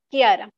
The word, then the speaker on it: Chiara: Esto recuerden que se pronuncia como ki, ki, ki, ¿ok? No lo vamos a leer como chi, eso sería incorrecto. Este de aquí es chao y este es ki, como una K, Kiara, ¿ok?